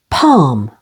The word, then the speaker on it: palm: L is also silent before M, as in the words almond, with the stress on the first syllable. Almond. Calm and palm.